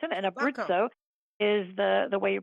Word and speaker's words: Abruzzo: Turbakco is the way you uh pronounce it. And Abritzo is the the way you pronounce that.